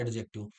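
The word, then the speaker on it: adjective: जैसे ये लिखा है एडजेक्टिव। इसे लोग बोलते हैं एडजेक्टिव। ए और जे के बीच में कभी भी डी आ जाए तो हम डी साइलेंट कर देते हैं।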